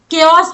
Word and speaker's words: chaos: तो केओस बोलते हैं इसको। आप बहुत से लोग गलत प्रोनाउंस करते हैं, चेओस बोल देंगे, लेकिन केओस बोलते हैं।